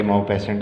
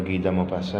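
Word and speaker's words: Guy de Maupassant: लगता गाड़ी माओ पेसेंट है, ऐसा नहीं है। इनके जो प्रोनाउंसिएशन है वो गीता मोपासा है।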